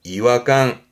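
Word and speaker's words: 違和感: 발음은 이화강, 이화강.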